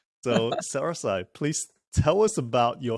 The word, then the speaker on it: SaraSai: Correct me if I'm pronouncing that That's incorrectly, SaraSai.